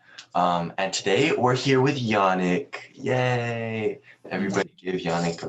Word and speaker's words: Yannick: were kids because like people would call me Yannick and it's Yannick. It's like a higher A, I guess. Wait, again. Yeah, wait, what? Like they would say it like it rhymes with like Sonic, like Yannick.